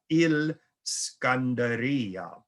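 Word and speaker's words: الإسكندرية: great city of alexandria now in arabic they don't call it alexandria it's called il scandaria which is how arabs would pronounce alexandria until today it exists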